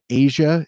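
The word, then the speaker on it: Aja: enjoy it my favorite steely dan album is asia it's spelled a j a um that's where uh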